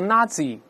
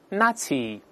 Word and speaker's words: Nazi: 个纳粹，不要读 Nazi 啊，这是个外来词，中间这个字母 Z 发 c 这个声音，在单词中间发 c 特别少见。我们大声来读一下 Nazi，在中间发 c 的非常少见。